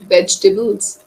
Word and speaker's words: vegetables: cauliflower cauliflower okay yes vegetables e is silent vegetables vegetables vegetables yes yes